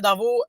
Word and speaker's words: Darveau: Darvaux, ça s'écrit D-A-R-V-E-A-U, soit dit en passant.